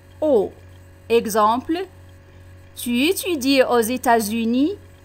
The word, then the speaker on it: aux: AUX تنطق O.